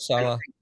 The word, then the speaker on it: Saleh: And I think with a guy like, what do you pronounce, Sally or Soleil or whatever the hell Robert Saleh.